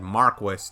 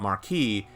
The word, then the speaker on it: Marquis: and by the way, this game has said Marquis 2, not Marquee, well then you know. Also, just so you know, Cold Steel 1 and 2 also said the word Marquis. Marquis Higharms, Marquis Ragner. They didn't say marquee, they said Marquis.